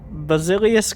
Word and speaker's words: Basilius: have double delete and basilius Kermit um am I am I pronouncing that correctly yeah that is correct basilius could you could you